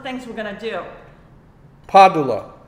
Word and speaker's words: Padula: Padula. That's how you say Vincent Padula. Padula. It's Italian. Nick G was asking. Padula. No, Padula. Padula. P-A. Like one a syllable. D-U-L-A.